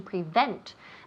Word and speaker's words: prevent: Prevent. The emphasis falls on the second syllable.